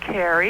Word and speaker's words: Carrie: Hi, Is it Carrie or Kari? it's Carrie. It's Carrie. Like the movie.